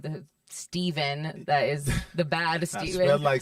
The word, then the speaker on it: Stephen: Stef because your name is spelled like the Steven that is the bad Steven. Spelled like Stephen. It's spelled like Stephen, but people think it's Steven.